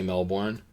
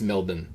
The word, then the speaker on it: Melbourne: And you may think I'm mispronouncing that, but apparently you do not say Melbourne. Apparently it's it's Melbourne.